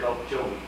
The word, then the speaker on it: Okmulgee: doing some modifications to a lock on Lake Okmulgee, I believe is how you say it. Did I say that right? I don't have it yet. Okmulgee. Say it again. Lake Okmulgee.